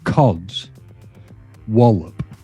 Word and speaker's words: codswallop: So if you break it down to cods, wallop. Codswallop.